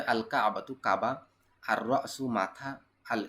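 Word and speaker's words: الكعبة: সলাতু সালাদটি বা নামাজটি, এখানে লাম উচ্চারণ হবে, আল কাবাতু কাবা, আর রসু মাথা,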